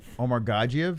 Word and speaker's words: Omargadzhiev: do you say omar godzilla omar omar gandhi omar gagiev is how you say it gagiev well omar